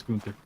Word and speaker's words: Gunther: I'm saying his name wrong. It's Gunther, isn't it? It is Gunther.